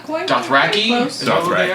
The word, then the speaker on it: Dothraki: Dothraki?